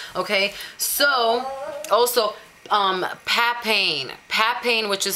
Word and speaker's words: papain: in the dermis okay so also um papain pat pain which is spelled p a p p a p a